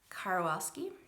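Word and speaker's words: Karwoski: Then we moved on to Seaman, the Dog Who Explored the West by Lewis and Clark by Gail Langer Karwalski, is how you say it.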